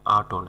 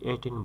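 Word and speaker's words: attain: আটন, আটন মানে হচ্ছে প্রায়শ্চিত্ত করা, আটন ATON, আটন মানে প্রায়শ্চিত্ত করা। আটেন মানে অর্জন করা, আটেন, অনেকে এটাকে এটেন বলে, তবে সঠিক উচ্চারণ আটেন, অর্জন করা।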